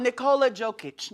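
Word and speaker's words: Nikola Jokić: So Liz, let's talk about Nikola Jokic.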